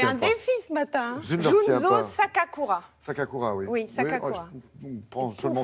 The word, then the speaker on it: Sakakura: hommage à Paris un japonais je vous laisse prononcer son nom non non je ne le pas c'est un défi ce matin Junzo sakakura sakakura ouiou sak prend seulement sakakura je dirait